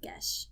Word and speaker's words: geas: Dane's like, I'm going to grant you a gesh. And I looked it up. It's pronounced gesh.